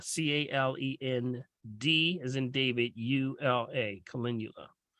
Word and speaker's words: calendula: we kind of should not use topically okay calendula Cheryl yes calendula c-a-l-e-n-d as in David u-l-a calendula it's the marigolds you can't miss it when